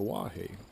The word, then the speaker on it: Oahe: lake oahe it is spelled o-a-h-e but it's pronounced the wahey o hay um and it's a nice little